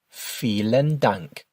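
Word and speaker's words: vielen Dank: You also might notice that the v's in German are pronounced with an f sound. Feel dank.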